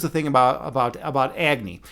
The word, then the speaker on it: Agni: And and and Agy or if you want to pronounce it like they do in the East, Agny, is is fire.